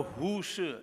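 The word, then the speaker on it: Hu Shih: Hu Shi, H-U-S-H-I-H. Shi is pronounced spelled that way, I don't know why.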